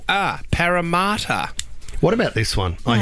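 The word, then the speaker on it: Parramatta: number seven right Sydney's second CBD is not pronounced param but it's pronounced paramat oh camata that's that's ridiculous if anyone 13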